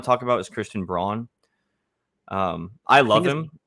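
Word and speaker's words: Braun: talk about is christian brawn um i love him i think it's brown brown i love by the way it's the despite the way it's spelled yeah yeah i'm gonna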